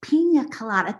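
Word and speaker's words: piña colada: Mom, it's pronounced pina colada.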